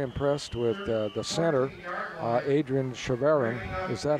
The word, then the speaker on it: Chavarin: I've been very impressed with the center, Adrian Chavarin. Is that how you pronounce his last name? Adrian Chavarin. Chavarin.